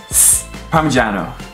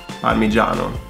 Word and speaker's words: Parmigiano: Parmigiano. Parmigiano. G followed by an I is G. Parmigiano. You don't actually stress the syllable.